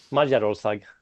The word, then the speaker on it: Magyarország: How do you pronounce it, Jana? Magyarország. Oh my God, I was completely wrong.